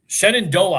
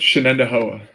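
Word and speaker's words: Shenandoah: Uh Shenondoa High School. That's the proper pronunciation, right? Close. Shenendoa.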